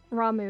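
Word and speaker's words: Ramuh: It's like, because it's spelled R-A-M-U-H, my British brain reads the U-H as an sound, so I always called him Rama, because I didn't know any better. Because I'd never heard it pronounced before, but then I realized later that people said Ramu.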